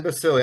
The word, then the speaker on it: Basile: Basili. I've been I would mispronounced it a whole lot until I heard a uh a radio ID you did for me.